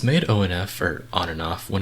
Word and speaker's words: ONF: special groups in existence i still don't really know how to pronounce their name by the way i call them onf but everybody always yells at me they say it's on and off but it's onf like that's how it's spelled so i'm not sure